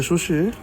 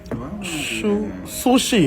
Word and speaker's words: sushi: Et tout le monde va filmer, il venait là avec le Lovencia qu'il faut lui manger chouchi. Qu'est-ce que tu dis? Chouchi. No, that's not how you say it. Sushi, hein?